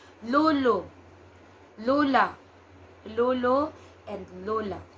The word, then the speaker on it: Lolo: will hear them say Lolo and Lola but for us we have a distinct o sound it's a little harder Lulu Lola Lolo and Lola